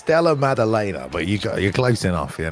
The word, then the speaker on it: Della Maddalena: Am I saying that correctly? Maddalena. You got it. It's Della Maddalena, but you're close enough, you know.